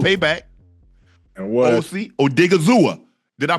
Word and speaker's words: Odighizuwa: Osa Odighizuwa. Did I pronounce that right? Osa. Yes, Odighizuwa.